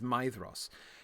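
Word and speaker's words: Maedhros: Like for instance, the ae vowel combination is pronounced like I. Um, so the eldest son of of of Feyenor in the Sylmerelion for instance, for instance, is Maidos.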